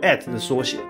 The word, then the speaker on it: @: like one of a mouse But it's real pronunciation is "at" Which just means "at" in English And why does it look this way?